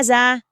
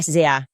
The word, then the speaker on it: SZA: Eu fiquei quem é ZA? Porque se escreve SZA. Eu pensei, Lizzo e ZA me colocaram na música deles? E ela olhou pra mim, Mia, e disse, é SZA.